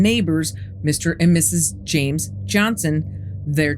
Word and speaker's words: Johnston: You can't hear it, but Johnson is actually spelled with a T, so Johnston. But for some reason, the Scottish don't pronounce the T.